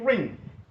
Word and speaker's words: wring: ഒന്ന് RING റിംഗ്, രണ്ടാമത്തേത് WRING റിംഗ്.